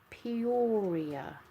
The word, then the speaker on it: Peoria: How's that pronounced? Peoria.